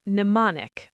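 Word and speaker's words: mnemonic: The M before N is silent, just like K before N.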